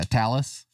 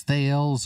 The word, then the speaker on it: Thales: Yeah, Talus. It's like Dallas with a T. Yeah. Everyone says Thales or Thales or OpenSpot connected to Brandmeister server.